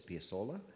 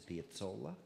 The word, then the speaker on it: Piazzolla: His family emigrated from Italy, so if you like to pronounce it in the Spanish way, it's Piazzolla. If you'd like to keep his Italian roots close to your mind, it's Piazzolla.